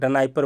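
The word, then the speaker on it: Dnieper: river के किनारे है निपर का स्पेलिंग ऐसे होता है जो डी से लिखाता है ठीक है ना हम लोग बोल सकते हैं ठीक है नाइ परर बोल सकते हैं लेकिन यह कीव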